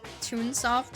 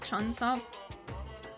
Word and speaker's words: Tunesoft: It's pronounced Tunoft and not Chunoft.